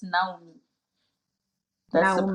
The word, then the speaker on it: Naume: It's Naume, actually, Naume, but I'm used to people just having an interpretation, so I'm used to it. But it's Naume.